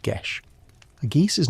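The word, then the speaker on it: geis: From the moment they are born, or perhaps after a great deed, they are bound by a geese, pronounced gish.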